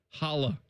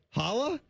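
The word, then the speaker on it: challah: It's all served on a soft glossy sesame seed chala roll. Hala. Hala.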